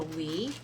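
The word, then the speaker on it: Oui: The next ones we have are called the Wii and it's spelled O UI and they come in that comes like this.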